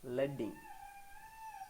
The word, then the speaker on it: leading: This term is pronounced as leading.